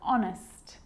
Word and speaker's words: honest: And sometimes it's not pronounced at the start of a word, like honest and hour.